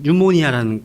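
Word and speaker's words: pneumonia: 헬라어로는 이제 푸뉴마라고 하는데 이 피라는 피가 발음이 안 되는 그런 단어가 상당히 많이 폐렴할 때는 뉴모니아라는 이게 폐렴이거든요. 피가 발음이 안 돼요.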